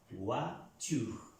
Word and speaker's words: voiture: Encontramos la OI, la pronunciamos UA, como en el español, voiture.